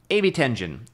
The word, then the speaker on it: Ebitengine: about is the uh they say AB10. AB10en. I call it Ebit Engine.